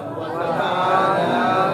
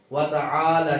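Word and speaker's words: وَتَعَالَىٰ: اس کو پڑھتے ہیں وَتَعَالَ جَدُّكَ، اس طرح ہی پڑھا جاتا ہے نا، حالانکہ یہ لام کے اوپر کھڑی حرکت ہے.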